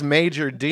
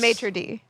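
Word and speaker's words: maître d': You don't say it like that if you're from America. I mean, how do you say it in an American voice? Maitre D. Major D. Maitre D. Maitre. There's a T in there. A maitre D. Not like Major Tom reporting for duty.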